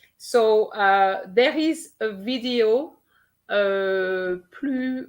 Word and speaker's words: plus: So there is a video, plus versus plus on French action. So for those who are not sure about when to use the S of plus, then you can have a look at this video.